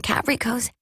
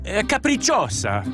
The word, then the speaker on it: capricciosa: Try them on the Caprico's. Wait, how do you say this? Capricciosa. It's capricciosa. Oh, thank you.